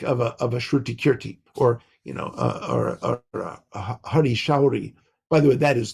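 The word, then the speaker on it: Hari Sauri: with Prabhupada, like of a Shruti Kirti or Hari Shauri. By the way, that is the proper pronunciation of his name. There's no such thing as Hari Sori. So I'm sorry about that. But it's Hari Shauri.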